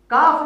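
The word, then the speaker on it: ك: প্রিয় বন্ধুরা, আবার বলছি, কাফ বর্ণটি কিভাবে উচ্চারণ করব, কোথা থেকে করব, এর মাখরাজটা কি? জিহ্বার গোড়ার থেকে সামান্য সামনে আগিয়ে তার বরাবর উপরের তালু থেকে কাফ বর্ণটি উচ্চারণ করব, এভাবে বলা যায়।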